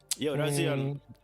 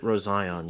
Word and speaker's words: Rozion: Is it Rozion? Okay, I'm saying. So you pronounce Razion. it. So you pronounce it Rozion, yeah. You pronounce it Rozion. My bad, Rozion.